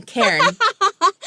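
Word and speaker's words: cairn: a i Ren I just looked at the pronunciation Karen it's it's a mountain of rocks right and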